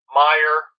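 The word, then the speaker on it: Meier: Meyer rhymes with tire.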